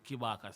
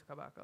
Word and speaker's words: Kabaka: why Kibaka, so him The say. name's man is Kabaka. We don't really. Yeah. Yes, it does matter. The man's name is Kabaka.